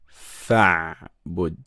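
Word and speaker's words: فاعبد: And because we have a letter before it, we don't have to pronounce this Hamza. We just go straight to the letter after it. So we say fa'bud.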